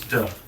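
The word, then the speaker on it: 德: It's t a and virtue which you spell in the Chinese pronunciation is duh.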